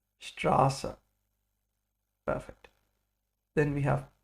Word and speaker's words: Straße: It's like a double S, and it makes the sound of a sharp S, like Straße. Straße.